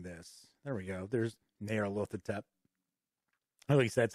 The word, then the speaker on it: Nyarlathotep: There's Nyarlathotep. At least that's how I've always pronounced Nyarlathotep.